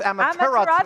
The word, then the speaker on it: Amaterasu: And finally, Amaterasu. Amaterasu. I missed a Whoops.